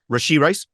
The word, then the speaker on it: Rashee Rice: going to Kansas City, of course, that You mispronounced his name though. Rashee Rice.